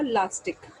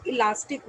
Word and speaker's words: elastic: इलास्टिसिटी word in common पैरेलेंस आपने word सुना होगा लास्टिक. जो लास्टिक आप एक गलत प्रोनाउंसिएशन सुनते हैं वो इलास्टिक वर्ड है ना.